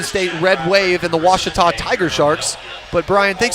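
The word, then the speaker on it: Ouachita: Network uh I've heard people say Oita oh a Oita is it pronounced Oita searching for wasita Baptist University back in Texas everybody pronounces it witch but really it's was was was how would you pronounce it it's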